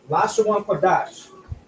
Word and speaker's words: Lashawan Qadash: But we have a connector here that connects the da and the sha, which now is pronounced dash. So Lashawan Qadash.